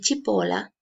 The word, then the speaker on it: cipolla: es si en español que en italia no se pronuncia chi entonces esta palabra se escucharía tipo la sí y chipola en italiano es cebolla